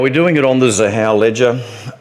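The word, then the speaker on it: Xahau: Now, we're doing it on the Zahao ledger. I understand it's a hard word to pronounce when you look at it. Zahao, it's a thing that names have got X's in this space.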